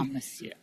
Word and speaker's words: Amasiu: The Amasiu, am I pronouncing that correctly? Amasiu.